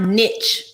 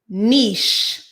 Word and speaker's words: niche: niche market it's not niche market okay it's not niche market it's niche you supposed to be a businessman you're so smart you're so classy well you ought to know how to pronounce niche it's giving you dumber